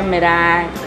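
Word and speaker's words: meringue: जैसे बहुत सारे अजीब वर्ड होते हैं, मेरैंग विच इज़ मतलब वो अगर आप उसके वर्ड को देखोगे तो आप प्रोनाउंस अलग ही करोगे, पर उसको प्रोनाउंस कहते थे मेरैंग, फिर मैक्रो, फिर क्रोसॉन्ट नहीं होता है, क्रोसॉन होता है।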